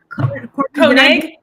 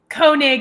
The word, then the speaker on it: Koenig: Koenig. His name? How do you say You're that? Okay. Koenig.